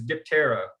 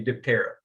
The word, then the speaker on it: Diptera: the scientific order is diptera or dipetra depends on how you pronounce it i'm not greek so i'm going to say diptera dye that first part